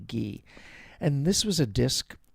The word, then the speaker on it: Guy: And this was a disc featuring Francois Frederick Gee or do you pronounce his last name Guy? It's Gu Y. I think you say Gee.